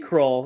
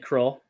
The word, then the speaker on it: Kroll: is another croll nick kroll is his his last name is pronounced like kroll but it's spelled with an o instead of a u he had a comedy